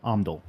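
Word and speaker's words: Omndull: Omdul.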